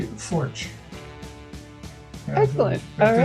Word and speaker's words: Pfoertsch: And Pfoertsch is a PF, which is not a sound in the American alphabet or in the English alphabet.